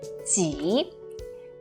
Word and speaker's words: 己: Alright, the one on the right with a shorter last stroke is pronounced as 己.